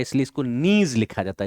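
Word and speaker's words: gneiss: Slate, नीज, पत्रित चट्टानों में होगी स्लेट, नीज, अंग्रेजी में इसको ग्नीज लिखा जाता है, पर जी साइलेंट रहता है इसलिए इसको नीज लिखा जाता है, नीज।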